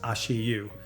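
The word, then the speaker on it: 足湯: This one is called ashu, pronounced ashiu.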